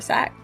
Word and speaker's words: SAC: If I'm not mistaken, this is the last qualifier we have here for sack. Yeah, the last qualifier is here for SAC or sack, wherever you want to pronounce it for.